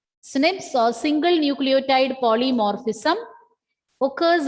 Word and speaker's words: SNP: or single nucleotide polymorphism it is pronounced as snips snips or single nucleotide polymorphism